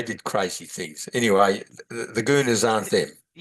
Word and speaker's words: guna: And then the goona means the qualities and the threads.